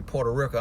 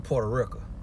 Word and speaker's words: Puerto Rico: let me the spring when I say Puerto Rico I'm saying Puerto Rican but I learned how to talk a lot of my words from my grandma who's from Alabama Selma Alabama and she's pronouncing Porto Rico and so and I just think that's coming from her never seeing the word or knowing how to spell it so she just was